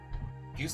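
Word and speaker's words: Fie: Yeah, I think it's not Toa. No. No, I'm sorry, man. It's Fee. It's Fee. It's spelled F-I-E.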